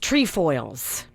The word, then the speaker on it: Trefoil: Yes, trefoils.